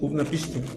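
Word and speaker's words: Utnapishtim: Utnapiste. Ah, bueno, se pronuncia utnapiste.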